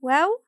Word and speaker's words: واو: And remember to pronounce the sound of wow as you draw it. Woo, woo.